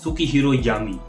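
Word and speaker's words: Sukehiro Yami: तो अगर हम यामी के नाम को सही से प्रोनाउंस करें तो ये होगा सुकीहीरो यामी।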